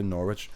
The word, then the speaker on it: Norwich: Norwich. Not Norwich. Norwich. Norwich. Norwich. Norwich. Well, it's spelled N O R W I C H.